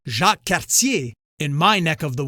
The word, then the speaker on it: Jacques Cartier: By the way, Jacques Cartier is pronounced Jacques Cartier in my neck of the woods.